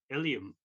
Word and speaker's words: Ilium: works is hanging in the lrc and it's ilium uh it's an etching um stephen can you